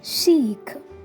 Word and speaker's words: chic: are you ready for the pronunciation challenge can you read this chick chick chick chick did you say chick no that was wrong so let's learn the correct pronunciation it's Sheik it's shic okay it's Chic it's not Chi